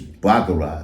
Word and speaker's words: Baccarat: They be like, I got on Bacardi 540. Like, nah, shorty is Baccarat.